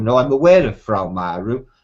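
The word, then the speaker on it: Fra Mauro: Mapper Monday produced in 1450 by a Frau Maru. Now, I'm aware of Frau Maru, spelled F-R-A-M-A-U-R-O, Frau Maru.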